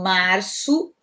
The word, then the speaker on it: março: Essa letra é o C cedilha, né? É um C com uma cobrinha embaixo. Ele vai ter som de S, tá? Em português. Então, março, abril, o L no